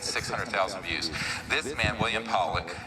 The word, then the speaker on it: Pollack: This man, William Pollack, his name is pronounced Powlick, was a man, very good man, who gave me an interview only to be released posthumously after he died.